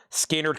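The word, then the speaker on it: Skynyrd: And then we got uh Skannard pronounced Skard Collectibles, Skard Live from Steeltown, Skard Live Tribute, Skard inards, and Skard Second Halping.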